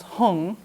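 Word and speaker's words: hūṃ: be it's funny because the whom which is in a lot of the mantras the Tibetans pronounce hung yeah I know I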